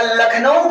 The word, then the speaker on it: लखनऊ: अब यहाँ पर रूल नहीं अप्लाई होता है, यहाँ पर लखनऊ की होगी LUCKNOW, लखनऊ, लेकिन बोला जाता है लखनऊ। इसी तरह रायबरेली की स्पेलिंग आपके अनुसार क्या होना चाहिए?